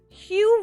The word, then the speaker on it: Hugh: Hugh rhymes with blue.